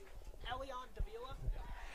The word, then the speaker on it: Elian Davila: Elian Davila? Elian Davila is the pronunciation.